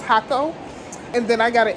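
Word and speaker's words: Jacó: huckle i keep saying draco because it's spelled j aco but i think it's pronounced hakko and then i got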